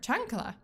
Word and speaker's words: chancla: Chancla. Oh, that's how you pronounce it.